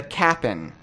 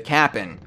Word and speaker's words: Cap'n: they meet a Skelly who's just called the Cap'n it's so spelled like Captain Crunch yes yes CA P '